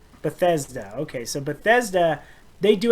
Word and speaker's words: Bethesda: Bethesda. Bethesda.